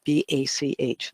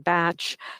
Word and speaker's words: Bach: There's also a question about how his name is pronounced, because for a while there, some people were saying Batch, some people say Bach. They say it like there's a composer, I think, Bach, composer of music, and I think it's pronounced the same way for most people around the world.